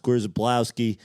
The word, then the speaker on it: Krzyzewski: Your name should be pronounced Krzyzewski. That's how it's spelled.